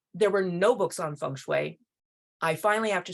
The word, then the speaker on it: Feng Shui: I say Feng Shui because the Mandarin pronunciation is Feng Shui, but it can be Feng Shui, Feng Shui, Feng Shui, so many dialects, so many different possibilities.